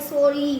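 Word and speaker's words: sorry: हमें पता है एंड में आता है और जो एंड में वाई आता है ना उसका कभी भी उच्चारण य नहीं आता है। उसका उच्चारण हमेशा इ आता है। बड़ी ई की मात्रा देखो के इ वाई की एस O double R वाई सॉरी री री ई की मात्रा आ रही है।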